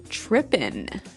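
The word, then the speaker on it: trippin': this girl started tripping tripping tripping so to trip right as you notice it's tripping it doesn't have the g at the end which isn't really gramatically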